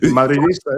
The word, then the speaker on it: Madridista: Madridista, yeah, man.